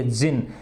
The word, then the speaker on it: jinn: ये रहा, है ना, प्रोनाउंस्ड एज जिन, इसे जिन की तरह बोला जाता है, एंड वेरियसली स्पेल्ड एज,